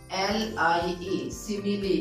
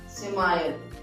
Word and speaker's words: simile: S-I-M-I-L-I-E, simile। इसे simile कहना है। अक्सर स्टूडेंट्स जो है ना इसको मिसप्रोनाउंस करते हैं और वो कहते हैं सिमाइल। ये सिमाइल नहीं है, simile है।